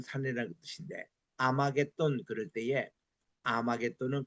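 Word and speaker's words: 아마겟돈: H가 묵음이 됐습니다. 그래서 이게 하르 메기도를 H가 묵금되고 아르 메기또 이거를 붙여서 아마게돈 이거는 이제에 메기또의 산이라는 뜻으로 아마게는 이름이 그렇게 나온 겁니다.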